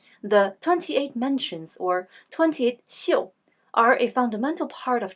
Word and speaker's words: 宿: This character has three pronunciations: su, xiu, xiu. Each sound refers to a specific meaning. In this context, it means the stars in the sky. Therefore, the sound is xiu.